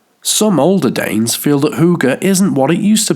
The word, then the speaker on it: hygge: Hygge, pronounced Hygge, is a Scandinavian way of life that celebrates